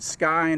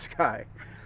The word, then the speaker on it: SCCY: some C's and so when you look at it pronounce it Sky not you know I tried SK or but it's it's Sky uh anyhow they uh